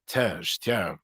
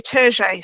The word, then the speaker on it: Terje: Now, I don't think I'm pronouncing his name right. I know it's shameful, but Terj. I was going to say Terje, so we were both Terje, close.